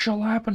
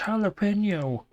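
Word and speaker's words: jalapeño: out of my mother it's not shall happen no it's jalapeno you have Spanish in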